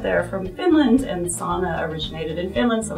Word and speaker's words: sauna: who live up there are from Finland, and sauna originated in Finland, so it's called sauna.